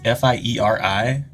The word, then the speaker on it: Fieri: I did you know his name is f-i-e-r-i but you say it Fieri because it's in that Italian in Italian I just